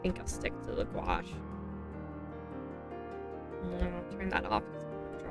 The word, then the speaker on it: gouache: I keep thinking the brush I want is the oil paint, but it's not, it's a gouache. Which, yeah, that's how you pronounce that word.